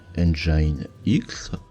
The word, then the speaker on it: nginx: angie a nyx.n jnx qu'on va prononcer engine x est un serveur web